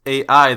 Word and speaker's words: AI: files or i guess ai the summoning files uh the trailers for this game pronounce it as i so i'm just gonna use that even though i'm used to ai whatever released on september